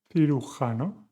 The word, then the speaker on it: cirujano: juez, which means judge, cirujano, with the sounds that we have also worked on today, th and h, is surgeon, tequila, I'm